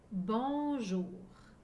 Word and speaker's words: bonjour: vais médecins dentistes à être arrivé bonne journée bonjour regardez bien le mot prenez une photo avec